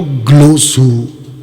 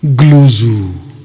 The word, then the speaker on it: ग्लोसा: अभी जो ग्लोसू, क्या बोल रहा है, इसका प्रोनाउंस कैसा है कर रहा है ये बंदा?